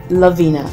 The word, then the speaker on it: Lovena: Her name is Lovena.